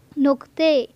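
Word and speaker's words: نقطه: کر سکتے ہیں کہ جس لفظ کا تلفظ آخر میں الف کے ساتھ آ رہا ہے نقطہ، اسے ہم لوگ پرشن میں پڑھیں گے نقطے۔ نسخہ تو ہم اسے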